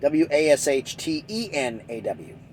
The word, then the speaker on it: Washtenaw: excuse me Washington now w-a-s-h-t-n-a-w that's how you spell it T is it w-a-s-h-t-e-n-a-w racked myself Washtenaw counties um and their how